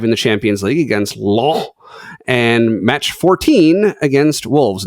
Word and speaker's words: Lens: Yeah, I was going to say, don't forget the S on the ends. It's Lens.